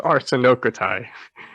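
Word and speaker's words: ἀρσενοκοῖται: or Hebrew, I mean, she's mispronouncing the word. Oh no. It's arsenokotai.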